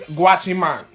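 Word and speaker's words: guachimán: So, our next word is GWACHIMAN. Now, GWACHIMAN means security guard. Yes, it sounds like watch your man, but it's not. Trust me, it's not. GWACHIMAN is where you will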